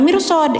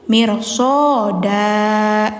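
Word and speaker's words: مِرْصَادًا: Jadi enggak mirs ya, jangan mirsod karena bukan mad arid seperti ini bukan, tapi mirsoda gitu.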